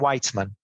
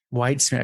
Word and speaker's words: Weitzman: now I have a reference yeah so whitesman whitesman because that's not what I would have said whitesman yes okay whitesman cool so then um so